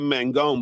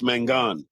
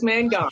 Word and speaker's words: Mangone: I've been mispronouncing it. I've been saying Kim Mangone, but it's Mangone. It is Mangone.